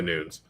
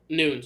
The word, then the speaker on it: Nunes: she's been done yes i've been saying it wrong oh no a lot of people do it's amanda nudes nudes okay well we tested